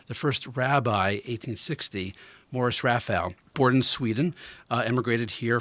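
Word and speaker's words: Raphall: How do you pronounce this? Rafael.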